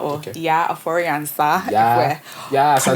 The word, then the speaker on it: Yaa Ofori-Ansah: So my name is Yaa Ofori-Ansah, or Okay. Yaa Ofori-Ansah, Yeah, if we're pronouncing it correctly, you know.